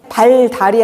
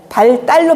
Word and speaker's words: 발달: 어 예를 들면 산불 표기대로 읽으면은 산불이죠. 근데 이걸 우리는 산뿔로 발음하죠. 발달이 아니고 발 딸로 발음하죠.